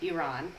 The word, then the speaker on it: Iran: So I just want to say I do know the correct pronunciation, Iran.